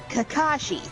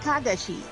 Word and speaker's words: Kakashi: Or as apparently is pronounced in America, Kakashi. And that bothers me. oh, that's what I do not- thought. I don't like when people say that. It's not Kakashi, it's Kagashi.